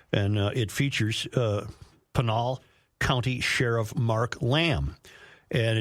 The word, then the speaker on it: Pinal: Sheriff Mark Lamb, is it Panol County? Is that how I pronounce it? Yeah, Panal County. Panel Panal County.